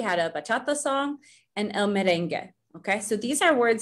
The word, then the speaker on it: merengue: So you don't really pronounce that U when we have words like that.